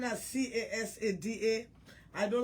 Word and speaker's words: Casada: By the way, my name not spelled with K. My name is C-A-S-A-D-A.